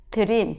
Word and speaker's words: dream: 자, 근데 이게 R 발음입니다. 이 R 발음 영어로 힘들어요. 이 R 발음은 이 치아와 치아 사이 이게 혀라고 생각할게요. 이 혀가 천장에 이렇게 닿으면 안 됩니다.